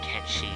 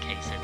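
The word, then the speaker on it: Cait Sith: How do you even pronounce his name? It's like Ketchi. It's not even Kate Sith.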